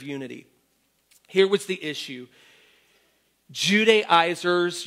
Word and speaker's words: Judaizers: Judaizers, you might want to say Judaizers. I've heard it pronounced a couple different ways. I say Judaizers, had moved into these